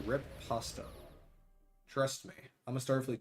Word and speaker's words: Riposte: I'm happy to report that Operation Riposte? I think Lorca mispronounced it. It is Operation Riposta.